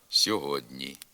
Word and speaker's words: сьогодні: саміста стають пом'якшеними наприклад пишемо сьогодні А вимовляти треба сьогодні передньоязиковий приголосний д стоїть перед пом'якшеним передньоязиковим н і тому сам м'якшиться сьогодні пишемо дровітня а вимовляти